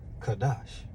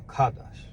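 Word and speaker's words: חדש: The word new is Strong's 82319, and it's pronounced Kadash, all right? A Kadash, all right?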